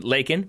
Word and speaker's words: Laken: Final scouting report comes from Laken, pronounced Bacon, Brown.